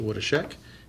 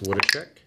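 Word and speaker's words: Woodeschick: I believe it's pronounced Wodashek.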